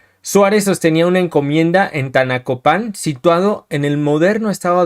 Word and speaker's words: Tanacopan: Vamos a comenzar con el caso de Tlacatet y Tanixtet, sacerdotes nativos de Tanacopan. Tanacopan, lleva acento en la, en 1536.